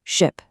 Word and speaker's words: ship: For the short vowel, the I in ship, the sound is fast and your mouth is pretty relaxed. It's a quick central sound, ship, sit.